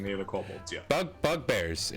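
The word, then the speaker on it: bugbear: again maybe they're really sleepy i don't know bug burgers i shouldn't be racist yeah you haven't seen any other couples yet bug bug bears it's called it's pronounced bug bear bug burgers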